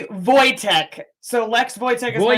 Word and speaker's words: Voytek: Did I pronounce that right? Voytek? No, it's actually Voytek.